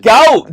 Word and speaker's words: gout: Gout. The way you pronounced it. I'm so sorry. You said g. G. I was say what the is GA? I thought it was an acronym for something.